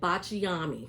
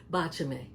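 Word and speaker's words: Baciami: And I hear a lot of people calling it botchi. They're breaking it down into multiple syllables and it's only three. Bachame.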